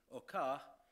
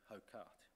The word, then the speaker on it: Hocart: in 1883 in Belgium the Guernsey family who remain alive today prefer the pronunciation or car but I think we're going to stick with hokkart his father was a